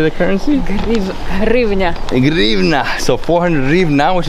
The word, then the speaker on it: hryvnia: Hryvnia.